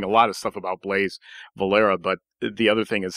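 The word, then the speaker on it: Blas Valera: Tell us about Blaise, and we're pronouncing his name in Spanish or in Castilian as Blaise Valera.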